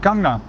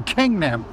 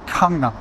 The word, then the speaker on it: Gangnam: And that really influenced my pronunciation of the word Gangnam, because the character that it represents is actually somewhere between the English K and the English G.